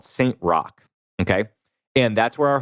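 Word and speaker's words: Roch: realized this church is the church of saint rock and i should by the way uh let you know rock is spelled r-o-c-h if you want to do some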